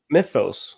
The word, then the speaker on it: Mythos: So am I pronouncing that right? Mythos? Mythos? No, it's Mythos.